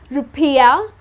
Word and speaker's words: rupiah: Well the people of Indonesia use the currency called rupiah. Okay, that's how it's pronounced and the monetary units or the ISO code is, IDR.